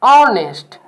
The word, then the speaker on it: honest: Pronounce word once again, honest. And honest is a vowel sound, so we cannot use A with honest, as you can also learn in previous slide.